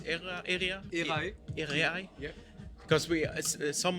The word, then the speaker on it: Erae: of stage so uh er era it's era area yeah because we as